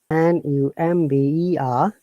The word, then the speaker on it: number: But amazing matter is that when N-U-M-B-E-R, we have to pronounce the B, but according to the British IPA, R is silent, so it is number, not number, okay?